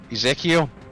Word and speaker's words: Ezekiel: shortened form of Ezekiel. How do you pronounce Yep.